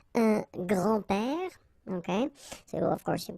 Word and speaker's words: grands-pères: Okay, so it's not really difficult, and especially if you think about that, you don't pronounce this S, so actually phonetically it's the same grand-père here and grand-père here.